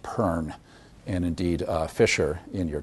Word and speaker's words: Bon: Tibetans will all tell you that it's pronounced Pern, and indeed Fisher in your textbook notes that it's pronounced Pern.